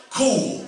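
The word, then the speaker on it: chuwl: there uh it said it's spelled c-h-u-w-l but it's pronounced cool somebody say cool yeah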